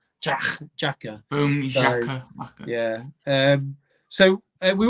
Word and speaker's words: Xhaka: Is it Zaka? Xhaka. Xhaka.